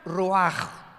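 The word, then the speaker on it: רוח: como suena con R de Raúl, ch al final, Rash y se pronuncia Roaj.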